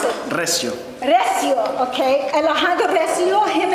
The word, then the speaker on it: Recio: We're going to meet Alejandro Recio. He and his brother, Andres, I'm sorry, I pronounced it wrong. Yeah, no, but No, how do you pronounce it? Recio.